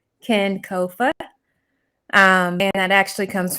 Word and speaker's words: kinkofa: say our name so the correct way to pronounce ken kofa um and that actually comes from a ghanaian